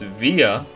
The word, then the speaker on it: Villa: as I guess it's pronounced via is how the game said it spelled Villa as